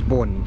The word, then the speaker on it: Bolt: Not only that, the lolling, the L sound, when that's at the end of the word, it's pronounced with an N sound. So, what was my name? My name was Bon, not Bolt, it was Bon.